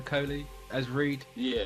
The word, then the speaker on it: Kohli: So, Rahul Kohli, I think that's how you pronounce his second name, Kohli, as Reed.